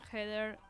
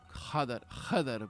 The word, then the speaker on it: Jedr: Bueno, pero porque Heder se escribe J-E-D-R y yo pensé que me decía Heather tipo en inglés.